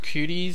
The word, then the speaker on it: Kwooty: this one out and it's called I believe it's pronounced cuties so I got the